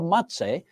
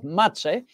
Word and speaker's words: Mazzei: So it was there that Signor Mazzei, and I beg your pardon for my pronunciation of his name, I even write it in my memorandum books and account books, M-A-T-S-A-Y, Signor Mazzei.